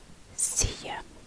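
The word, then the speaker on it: Si je: The C, it's exactly like your Spanish yes. So what I'm going to write here is Spanish yes. C. Spanish yes. C. C. Yeah. Now this one can be read the same as, you know, when you say yeah or yeah. The same as this yeah, but you stop it first yeah, yeah, so you stop it yeah.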